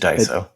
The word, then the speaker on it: Daiso: I went to that uh Daiso store and I think that's how you pronounce it. Maybe it's not, but like it's just Daiso.